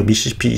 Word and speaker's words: 미시시피: 여기가 미시시피, 서쪽 경계가 이게 다 미시시피강이죠. 예. 예. 그리고 발음할 때는 미시시피라고 읽어야 된대. 미시시피. 그렇죠? 좀 약간 강하게 해야 되나 보죠?